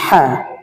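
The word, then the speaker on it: حاء: হ্যাঁ হরফ উচ্চারণ করে থেকে কণ্ঠলের মধ্যখান হইতে উচ্চারিত হয়, একাই টান হবে হ্যাঁ। এই হরফটা একটু কঠিন, এই জন্য আমরা কণ্ঠলের মধ্যখান থেকে চাপাই উচ্চারিত হবে, চাপ দিয়ে হ্যাঁ, হ্যাঁ।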